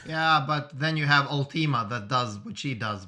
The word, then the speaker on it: Ultima: chaos wave chain for the upcoming term its ultimate I thought you weren't doing pronunciation you ready uh no it's all team